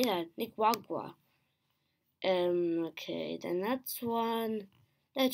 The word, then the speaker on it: Nicaragua: Nicaragua.